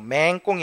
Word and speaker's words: 맹꽁이: 첫 음절에 있는 맹자를 긴 소리로 맹꽁이 하죠.